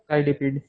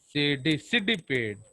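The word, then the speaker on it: Cydippid: तो अगर इनडायरेक्ट है तो लार्वा कौन सा है, साइडिपिड। सिडिपिड। ओके, इसलिए talk in A proper pronunciation.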